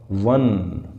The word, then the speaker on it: once: तो इसकी प्रोनाउंसिएशन क्या है, बताओ बताओ बताओ, सोचो सोचो। वन, व और न, व क्या हो गया, कॉन्सोनेंट, तो इसमें भी आएगा ए।